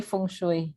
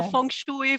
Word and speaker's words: feng shui: uh feng shui related more feng shui however you say it that's fine here we say feng shui yeah so feng shui feng shui like they say in america feng shui like they say in spanish it's fine we're all addressing the same thing yeah we understand so